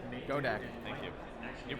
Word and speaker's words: Godec: going on man i want my last name go deck thank you you're pronounced right too i'm really proud of you